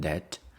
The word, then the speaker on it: debt: been in debt thatb we don't pronounce the b i mean the B is silence have you ever been in debt debt is a sum